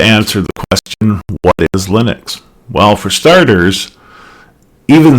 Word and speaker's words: Linux: But the holder of that name pronounces it Linus and we should respect his wishes and therefore pronounce his operating system kernel Linux.